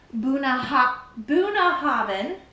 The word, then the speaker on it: Bunnahabhain: Buna Havin, that's how you pronounce it. Buuna Havin 18.